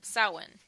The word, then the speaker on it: Samhain: off with the name of Halloween it was soin you know it's it looks when you spell it like Samhain but it's pronounced that one